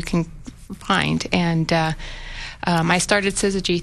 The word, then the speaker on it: Syzygy: So Cammie is the founder of, how do you pronounce it, Syzygy? Syzygy.